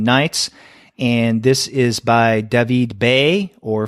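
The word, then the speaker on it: David B.: and this is by Devi Bay or for those who want to pronounce it in an American Way David B it came out on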